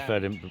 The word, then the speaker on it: Verdant: And a final mention for Verdant Brewing Company, whose company name I have mispronounced on every single video. What do they call it? Well, it's Verdant.